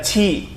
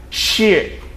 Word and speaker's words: chi: Jadi kalau CHI itu bukan baca ci. Nah, kalau ci itu kan q dengan i. Kalau ci juga kan itu j dengan i. Kalau ini bacanya shi, shi.